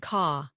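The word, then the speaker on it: có: No and ko, yes, in your pocket, pronounced calm and ka.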